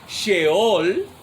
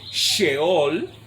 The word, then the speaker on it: Sheol: Entonces, en el hebreo es Sheol, así como se pronuncia SH, Sheol, y se traduce al español Seol para ese lugar.